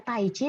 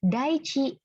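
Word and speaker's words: 大地: Nah, ini bacanya bukan taichi tapi daichi ya.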